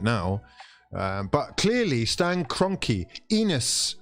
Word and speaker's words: Enos: But clearly Stan Kroenke, Enos, which rhymes with penis, yeah, is clearly way too busy thinking about his NFL success with the, what is it, the Rimmers, yeah?